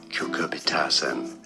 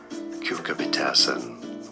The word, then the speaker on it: cucurbitacin: 2 different ways of pronouncing this word. Cucurbitacin is probably the most common pronunciation. Cucurbitacin, although some say it also as cucurbitacin.